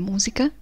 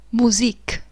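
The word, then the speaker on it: Musik: le parole della musica in tedesco non si legge di music ma di musique musique la nota di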